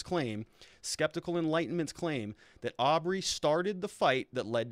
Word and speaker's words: Arbery: So it's actually Arbery, but he's saying, he obviously got the name wrong.